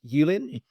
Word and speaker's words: Yan: So, Yan, your last name is pronounced Yin. Yeah, almost. I can live with that. Yeah, I got close enough.